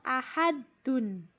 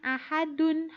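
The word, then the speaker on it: أَحَدْ: Huruf dal contohnya pada lafal ahadun. Ahadun tulisannya ahadun harakatnya domatain tetapi dibacanya ahad bukan ahadun ya. Membacanya ahad. Selanjutnya huruf th.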